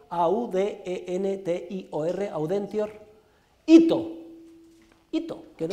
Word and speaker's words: audentior: malis, sed, S-E-D, contra, como suena, sed contra, audentior, audentior, A-U-D-E-N-T-I-O-R, audentior, ito, ito, que no es una palabra japonesa, sino latina. Tune cede malis sed contra audentior ito.